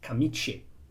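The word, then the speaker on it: camicie: In Italian, if you write kamichi with the i, you pronounce in kamiche, but you do it fast. But it's kamiche.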